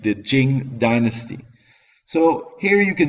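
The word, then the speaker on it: Qing: and be begin the Jing Dynasty that Q isn't pronounced like a q it's pronounced like a CH like the Jing Dynasty so here you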